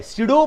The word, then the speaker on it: pseudo: यानी कि this P इज the silent है, सीडो फोर्स है।